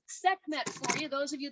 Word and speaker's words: Sekhmet: look at that that cobra and i'll spell sekhmet for you those of you that are taking notes again sekhmet that 3 000 year old statuary sculpture that